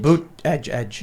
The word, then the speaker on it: Buttigieg: Is that how you pronounce it? Buttigieg. Boot edge.